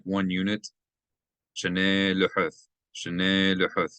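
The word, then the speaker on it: שְׁנֵי לֻחֹת: Shnei lehuth, shnei lehuth. You do want to elongate this because there's a method that tells you to elongate, to accent that syllable. Shnei luhuth avonim, stones.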